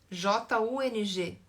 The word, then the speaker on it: Jung: Porque Jung se escreve com J, né? Jung. Só que a pronúncia é Jung.